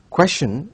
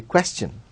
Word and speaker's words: question: Do I pronounce it as question or question? Well, question is incorrect. It has to be question.